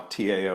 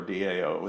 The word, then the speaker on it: Dao: Dao is You Know da Tao or Dao it's spelled both ways and uh you know